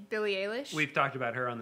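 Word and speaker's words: Eilish: recommendation would be um Billy how do you pronounce it P Billy Alish Billy Alish we've talked about her on the show SP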